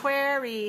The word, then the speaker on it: query: query quy query quy query has two syllables and it's dressed on the first one so two- one number